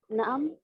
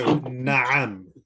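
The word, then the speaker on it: نعم: So how to pronounce na'am? So na'am, na'am.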